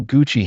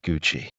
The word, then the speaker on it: Gucci: This CCI in Italian is always pronounced with a ch sound, like in the word choose. Here are two examples. She bought a beautiful Gucci handbag for her birthday.